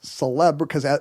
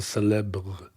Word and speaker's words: célèbre: Did you just gently pronounce the R in cause célèbre?